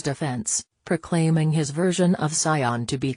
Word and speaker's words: Saiyan: He said the phrase Super Saiyan, but instead of making the first syllable of the second word sounding like say, he pronounced it like sigh.